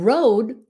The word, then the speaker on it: road: Còn road, là cái đường. Road. Phải có cái D sound at the end.